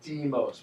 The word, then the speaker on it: Deimos: the naming there and it is pronounced Deimos with a long e sound let's see yeah actually